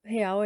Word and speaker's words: real: Brazil Real, real é o nome da moeda mesmo, então eu vou falar real como se fala no português mesmo, tá?